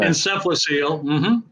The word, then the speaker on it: encephalocele: brother daniel who's 22 who has hydrocephalus and encephalocele if that's how you pronounce it that sounds good okay encephalocele okay thanks for the clarification sure let's start